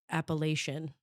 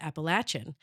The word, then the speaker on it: Appalachian: learned the word as Appalachian. And so I had no idea until we got here in 2023 that it was to everybody here in the south pronounced Appalachin.